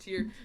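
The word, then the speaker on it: TYR: we're not sponsored and if you are wondering it is pronounced tier I emailed their support and asked them and they said it was pronounced tier so yes don't hate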